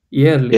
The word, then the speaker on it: jährlich: And if it is A umlaut, so how do I pronounce this now? It's not jährlich. Instead, sorry, Yeah. jährlich.